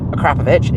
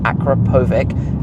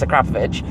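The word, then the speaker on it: Akrapovič: And this car has an Akrapovic exhaust system. Yes, it is pronounced Akrapovic, it's not Akrapovic, as I think some people often try and say, it's Akrapovic.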